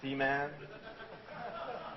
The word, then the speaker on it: Seaman: Tokyo um I'm strictly advised by Sega to pronounce the name of the title carefully it's c-man I try to be careful um first of